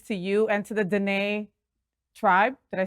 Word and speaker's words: Dene: blessings to you and to the Dene tribe.